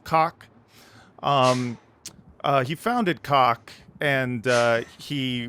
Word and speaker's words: Kach: It's spelled K-A-C-H, so I'm going to assume it's pronounced Kach.